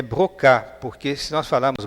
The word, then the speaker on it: Broca: Essa palavra, esse esse nome pronunciado em francês é brocá, porque se nós falarmos broca fica uma pronúncia muito estranha.